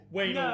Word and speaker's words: Wanahl: Waynal range. Waynal range. Is that how you thought it was Waynal? It is Waynal unequivocally the Vernal range.